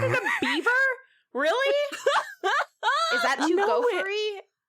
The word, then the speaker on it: Belvoir: It's pronounced beaver.